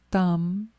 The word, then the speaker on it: tam: your sternum, is the red seed syllable, tam. You can look if you can see it. It's T-A-M, or you can see the Tibetan.